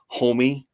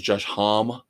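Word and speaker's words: Homme: I think Josh now like now I always mispronounced his name. His name I guess is Josh Homie where I always said it was Josh H, but I guess it's homie.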